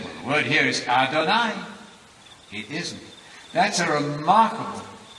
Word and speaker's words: Adonai: speak of god as adonai you can remember this it rhymes with el shaddai everybody knows that song